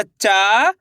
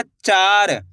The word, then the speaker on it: चार: ऐसे नहीं पढ़ना आपको चर। अगर चर पढ़ दोगे तो दो अक्षर वाले शब्द का उच्चारण हो जाएगा। जबकि यहां पे आ की मात्रा लगी हुई है तो आ की मात्रा को खींच के पढ़ना है।